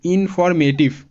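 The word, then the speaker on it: informative: এরপর TIVE টিফ, ইনফরমেটিভ। দেখো এখানে আরেকটা বিষয় লক্ষণীয় যে এখানে MA আছে, MA-এর উচ্চারণ মে এমনটা হচ্ছে, মানে এ এসে আছে এই এ ভাওয়েলের উচ্চারণ এ এমনটাই হচ্ছে।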